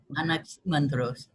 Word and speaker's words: Anaximander: Anaximander. Fantastic. Anaximandros.